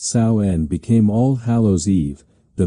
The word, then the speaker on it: Samhain: The pagan festival of sin pronounced saen became all hallow<unk>s eve, the vigil before all saints day.